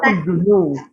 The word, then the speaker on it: Huguenot: Selanjutnya Bacanya Richelieu, Richelieu. Richelieu. Oke, terus dibaca Huguenot, orang Huguenot.